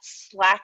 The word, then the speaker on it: SLAC: I work at SLAC National Accelerator Laboratory, so we actually pronounce the acronym, and so we call ourselves SLACers sometimes.